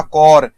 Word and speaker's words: corps: सर ये देखिएगा, इसका प्रोनाउंसिएशन होगा कॉर, ठीक है, इस कॉर का मतलब होता है किसी भी चीज का यूनिट या फिर डिवीजन, और जिसका हिंदी आप अक्सर यूज करते हैं टुकड़ी। आप NCC जरूर पढ़ा होगा, NCC नेशनल कैडेट कोर, ये कोर का स्पेलिंग ये वाला कोर होता है, P नहीं, ठीक है, कोर ना S बोला जाता, कोर ही बोला जाएगा।